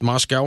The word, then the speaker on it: Moscow: I were both out there we were in Moscow pronounced Moscow I'm not messing that up I said Moscow